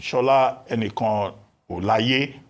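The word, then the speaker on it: Shola Enikanolaiye: Now, as for foreign direct investment, Shola Enikan Olaye, that's the correct pronunciation.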